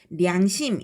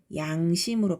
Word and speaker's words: 양심: 이렇게 쓰는 똑같은 량자인데 이게 단어 첫머리 두음에 올 때는 량심 이렇게 발음하지 않고 양심으로 발음한다는 거죠. 르 발음이 아예 없어졌지, 그지?